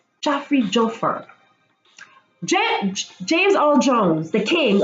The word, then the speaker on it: Joffer: Joffrey? Oh, am I pronouncing it wrong? Joffer.